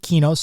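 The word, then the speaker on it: Qeynos: That's Q Y N OS. And some people pronounce it Kenos. I pronounce it Kos. Whatever. I don't know which one is right.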